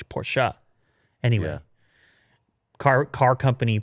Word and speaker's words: Porsche: for example with porsche if you don't say porsche you have to put porsha anyway car car company